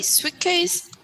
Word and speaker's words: suitcase: case suitcase sweet cake almost don't pronounce the tea sweet case okay letter j leisure